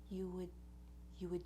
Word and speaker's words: would: it, and then you just do a little schwa. That's the tiniest, most relaxed, most reduced vowel that we have, very neutral, into the D. You would meet.